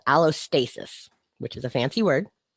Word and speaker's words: allostasis: It's called allostasis, which is a fancy word. It's spelled ALOSTASIS, allostasis, which is that process of your brain predicting